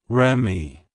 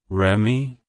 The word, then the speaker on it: Remi: language it's pronounced as Remy Remy Remy to pronounce it correctly emphasize the ray sound and then gently WR